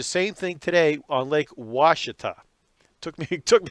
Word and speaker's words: Ouachita: doesn't sound doesn't look like washington but it's pronounced washita i have never fished the lake yet but